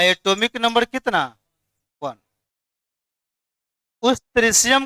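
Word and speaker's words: tritium: ऐसे कितना आदमी पढ़ता है? ट्राइटियम। क्या पढ़ता है? लेकिन इसका सही उच्चारण क्या होता है? त्रिशियम।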